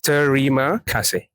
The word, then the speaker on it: Terima kasih: It's a 3 syllables. Terima kasih.